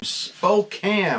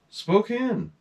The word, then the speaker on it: Spokane: yeah Darren Williams from Spokan I think he's in Spokan Spokane as I used to say Spokane rhymes with something um so I sent